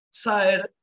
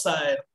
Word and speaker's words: Saer: El primer libro que publica Saer, acá les doy un dato de color, los que no nacimos en Santa Fe le decimos Saer, pero los santafesinos le dicen Saer.